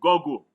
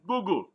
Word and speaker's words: Google: G double Oh GED so I had people say go go it's not go go they're two O's there is no bubble like that Google glass is Google so all of you